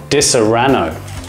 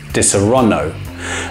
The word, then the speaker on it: Disaronno: say it like this disarono what is the correct pronunciation and how do you say it I think the way I say it is correct because it's most like the Italian Disaronno